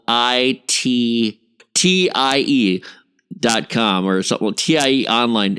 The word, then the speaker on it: TIE: Well, I didn't want them to think it's TYE or something, or Way to TIE. spell it out for him. You know, like Online. THAI or something. It's not Thailand. It's TIE. It's like tie your shoe.